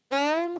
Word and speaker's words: ओम: कि जब अ ऊ और म से मिलकर के ओम बना है तो तीनों का उच्चारण होना चाहिए। लेकिन व्याकरण में क्या होता है, अ और ऊ मिलकर के ओ हो जाता है, तो बस ओ का उच्चारण करना भी पर्याप्त है। ठीक है, तो ये कंफ्यूजन दिमाग से निकाल देना, सीधे ओम का उच्चारण ही उचित है।